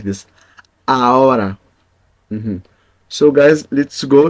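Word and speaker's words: ahora: now okay A a we don't pronounce the h because it's silent in Spanish always the H is silent letter so we we say like this a mhm so guys let's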